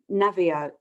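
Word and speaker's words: Naviaux: Robert, I can never pronounce his name correctly, but it's Navio, Dr.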